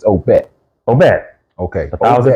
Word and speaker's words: Obet: we sitting there they told us how to pronounce this it's OBET oh man okay a thousand percent it's OBET